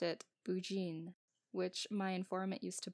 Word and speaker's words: Burgoyne: He pronounced it Bougine, which my informant used to borrow.